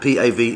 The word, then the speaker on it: Pav: So the bread, Pav, P-A-V, is pronounced Pav.